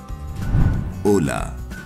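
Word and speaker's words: Hola: दरअसल ओला शब्द स्पेनिश ओला से लिया गया है, जिसमें एच साइलेंट होता है और जिसका अर्थ है हेलो या नमस्ते।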